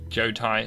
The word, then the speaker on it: Jotai: moving swiftly on so Joe Tai pronounced Joe Tai means state in Japanese they go there you